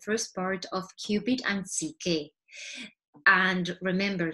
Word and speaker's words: Psyche: with you the first part of cupid and ck and remember ck is the name of this character this young lady and it's how we pronounce also i think in greek uh soul